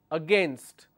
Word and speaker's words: against: here which is against, the actual pronunciation is against. But people make mistake and they make it sound like against. Instead of saying against, they say against. which means they are adding another syllable here.